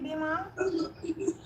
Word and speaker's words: Bimal: for bima bimal after did i pronounce your name correctly bhima yeah you pronounce correctly model all right sorry